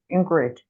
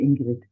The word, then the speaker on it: Ingrid: The English pronunciation is Ingrid, but in German we say Ingrid.